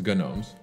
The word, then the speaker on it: Gnomes: It's Gnomes. No. No, but it's something oh, that... Oh, the G is silent?